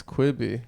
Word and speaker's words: Quibi: It's pronounced Quibi, dude. It's Quibi. Quibi. Quick bite.